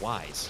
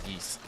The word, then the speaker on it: Ys: is that serious pronounced is it pronounced yeast or wise I don't think I've ever heard anybody say it out loud I've always heard it was geese yeah so uh yeast